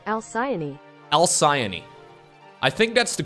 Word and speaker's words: Alcyone: elsaion alcion al-qaini else I think it's alkyne no al-siani according to Google it is pronounced as such al-siani al-siani I think that's